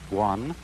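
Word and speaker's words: 觀: Chinese character which I drew at the beginning, pronounced guan, or quiet observation.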